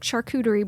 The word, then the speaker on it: charcuterie: We do like a WIC charcuterie board. We have some physical activity classes. Wait, can you pronounce that word again?